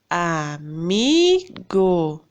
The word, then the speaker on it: amigo: Amigo. Qual que é a sílaba tônica na palavra amigo? Não é o mi, que a gente pronuncia com mais força? Amigo. Então, essa palavra é uma palavra paroxítona, tá bom?